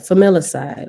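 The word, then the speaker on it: familicide: the same thing hold on y'all how to pronounce familiar side yeah okay I said it right familiar side okay okay flamela side okay John list familiarside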